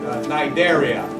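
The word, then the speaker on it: Cnidaria: The jellyfish belong to the film um Nidaria beginning it's spelled C with the letter C N I D A R I A.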